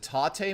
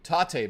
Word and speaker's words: Tate: All right, so absolutely it's Taté. Oh, is it Taté mode? That's how you say it. Okay, thank you. Tate mode.